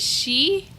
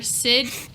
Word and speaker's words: Sidhe: Is it she or Sid? She. SIDHE. Changeling. She's part Fey. Is that how you pronounce it? Yes. Yes. Yes, She. Celtic. Celtic pronunciation Gaelic, and spelling.